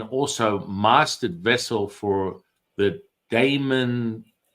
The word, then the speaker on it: daemon: I mean, if you go a little bit to the left, it might be pronounced demon, but it's Damon. There's a big difference. Damon. D A E M O N. Damon.